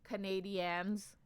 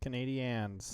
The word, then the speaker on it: Canadiens: And yes, it's pronounced Canadiens. I know it's weird. Canadiens.